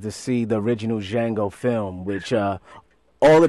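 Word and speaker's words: Django: name and he says Jango in the D is silent you know that's the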